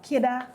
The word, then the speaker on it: Kidda: Lloyd Beaton of Kidda Tours and More.